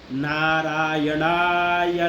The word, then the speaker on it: नारायण: उसके बाद में ओम नारायणाय नमः, ओम नारायणाय नमः। रा नहीं है, रा, नारायणा, न के बगैर में, न के साथ, नाक के साथ में उच्चारण करना है।